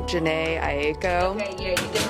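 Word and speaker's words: Jhené Aiko: Number two was, I don't know how to say her name, Janae Aiko.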